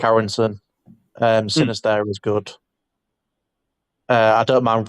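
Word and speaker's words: Sinisterra: The Sinister, is that how you say his name? Sinister, yeah.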